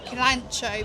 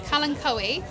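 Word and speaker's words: Kalanchoe: I was pronouncing Kalancho because that's how I still do that. Yeah. Like everyone in my where my region they pronounce it Kalancho because that's how it's spelled and that's how you do it.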